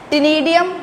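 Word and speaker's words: ctenidium: First जो है ये ऑर्गन है टिनिडियम गिल। टिनिडियम में सी साइलेंट है, टिनिडियम गिल्स।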